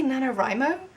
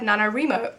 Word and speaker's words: NaNoWriMo: People say NaNoWriMo? And like, that makes sense, because right? But for so long I said in my head NaNoWriMo, and now I can't stop pronouncing it like that.